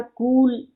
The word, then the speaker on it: कुल: और क हर्षुकार कूल, उस कूल का अर्थ होता है वंश और पूरा, समूचा। क हर्षुकार कूल, कुल, उसका उच्चारण होगा कुल।